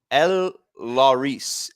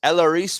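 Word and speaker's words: Elehuris: I got this right it's El Laurice elaris Montero my bad uh from the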